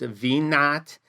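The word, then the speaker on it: v₀: minus our initial values this V with a subscript of 0 is pronounced V naught it is the same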